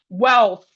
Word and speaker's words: wealth: So we have wealth, wealth. We have wealth. That's W-E-A-L-T-H. W-E-A-L-T-H says wealth, wealth. Why W-E-T is wet, wet.